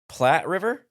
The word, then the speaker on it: Platte: Platte River? Yeah, the Platte River. Okay. The only reason I know that's how you say it is because there's a Platte River in Michigan as well.